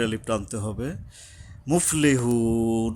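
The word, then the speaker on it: مُفْلِحُونَ: মুফলিহুন, এই যে হা উচ্চারণে সাবধান হতে হবে, এখানে লম্বা হা, গলা কিছুটা শস্য শব্দ হবে, একটু সময় লাগে এখানে।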